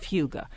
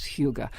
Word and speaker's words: hygge: into your day-to-day life is the essence of Huga Grace Simplicity and gratitude are the principles Hugo